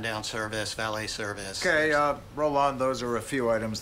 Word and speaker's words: Roland: And my name is actually pronounced Roland. And if there's anything you need, please tell me. Room service, turn down service, valet service. Okay, Roland, those are a few items that might be